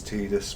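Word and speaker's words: Tidus: Oh, it should absolutely go without saying uh that we are going to call him Titus. you know, like canonically, I believe the name is Tedus because of, you know, the the spelling in in I don't know.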